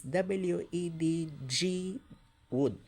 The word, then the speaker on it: Wedgwood: Now take note, the Wedgwood family name is, the spelling of that family name is W-E-D-G Wood, no letter E. But the pronunciation still the same, Wedgwood.